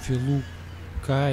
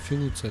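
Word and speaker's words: Фелуция: Конечно, перевод страдает ужасно, то есть Филука или как-то так вот он назвал эту планету, хотя это Филуция называется.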